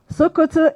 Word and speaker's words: Sokoto: Sokoto is the farthest point northwest of Nigeria. Shokoto. Written the same way, but pronounced S-O-K-O-T-O.